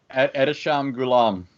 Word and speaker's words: Ehteshaam Gulam: Ehteshaam Gulam.